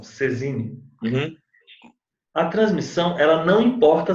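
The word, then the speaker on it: saisine: Ó, o fato de haver a transmissão pela Cesine, Saizine, que eles escrevem, mas eles pronunciam Cesine, a transmissão ela não importa a aceitação.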